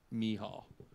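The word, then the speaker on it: Mícheál: name is me huh he's Irish so it's like u-haul but me ha but it's spelled mi ceal I would never split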